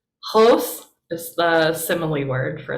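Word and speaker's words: ὡς: It's a whole word, but it has a rough breathing mark, so it's hos, hos. Hos is the simile word for like or as.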